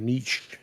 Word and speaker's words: niche: You just gotta find your niche. Niche. Well done, Beardy. You said it right. Hate when people say niche.